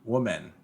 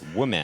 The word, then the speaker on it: woman: it's you could say one woman woman well that sounds woman it puts a lot more pressure on that second syllable sure yeah you're sticking